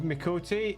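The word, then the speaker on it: Miqo'te: You do pronounce the first letter of Mikote. Uh, the first letter denotes their tribe.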